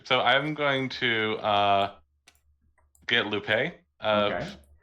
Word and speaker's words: Lupe: So I guess it has to still be a Lupe. It has to still be a Lupe. Any of the Lupes you have, I heard people say that they're actually pronounced Loop.